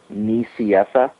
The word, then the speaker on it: Nicieza: Fabian's last name is pronounced Nicieza, so you said it almost exactly right.